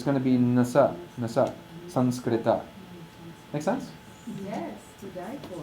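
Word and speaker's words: saṃskṛta: And the corresponding yellow nasal is regular old dental na. So it's pronounced Sanskrita.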